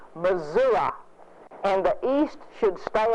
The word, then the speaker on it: Missouri: Those of us who live here and who pay taxes here have a certain inalienable right to say Missouri, and that's what it is.